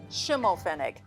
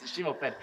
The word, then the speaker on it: Schimmelpfennig: I cannot pronounce her last name. Schimmelpfennig. That's exactly right. Schimmelpfennig.